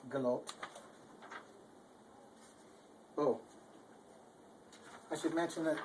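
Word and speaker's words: gelobet: an sound, so it's galoped. Oh. I should mention that you say both the B and the T, but, so it's galoped.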